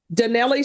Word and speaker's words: Donnelly: Oh, I'm mispronouncing it. It's not Donnell Smith. Donnelly Smith. It's Donnelly, correct?